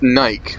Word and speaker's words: Nike: it eat or death Naik because this is getting a no wait I'm telling you every time I've heard it in a big movie or anywhere else it's always been pronounced Nike and it wasn't just